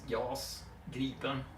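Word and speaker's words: Gripen: or the J um gpin it's pronounced y gin and it does mean Griffin um or in particular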